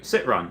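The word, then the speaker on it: Citroën: night john robert yellen says pronounce citron oh okay sit run all right i can take that i can pronounce that couldn't name a french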